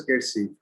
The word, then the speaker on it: Kersi: It's pronounced as Kersey.